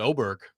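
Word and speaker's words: Åberg: And he pronounces it Oberg. How about that? Oberg? There's not an O there. Yeah. Really? Yeah. It's a Swedish thing.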